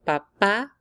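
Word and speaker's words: papá: examples of how an accent can completely change a word for Papa if you do not add that a the word is actually potato like the potato that you eat so Papa with an accent on the a means that papa no accent means potato so don't forget that accent now if you want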